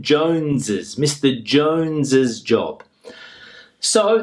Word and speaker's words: Jones's: Now, the pronunciation, Jones's Mr. Jones's job. So, the pronunciation for all of these is the same as if it were a plural.